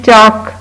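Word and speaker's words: chalk: फिर आपके क्लासरूम में है चाक, चाक में भी एल साइलेंट है।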